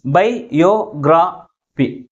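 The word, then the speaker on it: biography: బయోగ్రఫీ 4 syllables ఉన్నాయి. But which syllable ఈజ్ pronounced with greater force? Third syllable from the last ఈజ్ pronounced with greater force comparing with other syllables. That ఈస్ యో బయోగ్రఫీ.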